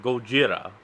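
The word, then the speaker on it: ゴジラ: bay that shouldn't have been fun fact uh Gojira is actually just a combination of the kanji for gorilla and whale so the kanji reads as gorilla well but it's pronounced Gojira huh but you know weed in America had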